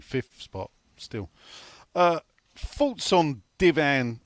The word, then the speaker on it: Divin: thoughts on Divan or Divine, as I'm supposed to, I think, pronounce it, even though there's no E.